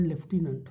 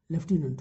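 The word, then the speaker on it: lieutenant: एक ही नहीं है और ब्रिटिश इंग्लिश में इस क्वेश्चन लेफ्टिनेंट होता है कि अमेरिका में थोड़ा स्पेलिंग जैसा उच्चारण होता है बट ब्रिटिश में लेफ्टिनेंट होता है तो यह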